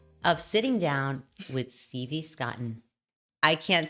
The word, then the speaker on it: Scotten: Scotten.